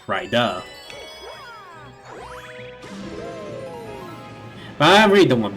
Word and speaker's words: Rida: pronounce my username, because most people end up thinking it's Rida instead of Rida.